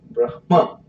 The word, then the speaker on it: Brahma: Everybody say Brahma, ending with ha. Huh? But the Sanskrit phonetic is not like that. It is Brahma. Brahma. It ends with ma, not ha.